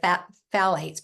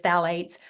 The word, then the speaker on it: phthalates: It sounds like phthalates, but it's phthalates.